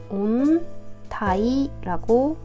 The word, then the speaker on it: 温帯: 자에 마찬가지로 벨트에 해당하는 한자를 써 줘서이 아이는 온 타이라고 합니다 그다음에 왜 감기 걸리면 한기를 느낄 때가